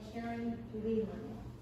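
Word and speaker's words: Caryn Leland: Licensing Art and Design by Karen Leland. Karen is spelled C-A-R-Y-N, Leland, L-E-L-A-N-D.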